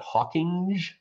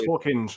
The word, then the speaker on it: Hawkinge: I'm not sure if you pronounce that Hawkinge or Hawking. I think it's Hawkinge, I think. Hawkinge, I'm pretty sure it's Hawkinge, yeah.